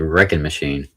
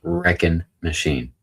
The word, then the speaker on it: Wreckin' Machine: That looks like Wrecking Machine. Wrecking Machine reminds me of that that one Wrecking Ball song. No, that is not correct. It is pronounced Wreckin' Machine. Because it is a wrecking machine.